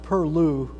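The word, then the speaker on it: pilau: Chicken perlo, sometimes pronounced perlou, but it's spelled P-I-L-A-U.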